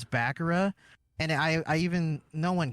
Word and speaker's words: Bakura: And I was like, oh no, have I been pronouncing Bakura wrong for all these years? it really is Bakura.